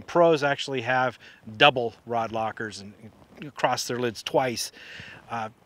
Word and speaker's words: Loc-R: Now, if you wanna go a step further, you can get something called a locker bar. I think it's L-O-C-R is how they pronounce it.